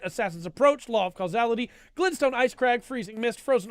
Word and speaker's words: Glintstone: Were you saying Glen Stone? Yeah, Glintstone. Can you spell that? Glintstone. Glintstone. Okay. Glintstone. Yeah, Glint. I was hearing Glen.